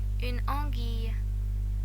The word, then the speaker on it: anguille: After G and Q, U isn't usually pronounced, but in all other cases, U is pronounced. Some examples of the silent U: qui, who; une anguille, an eel.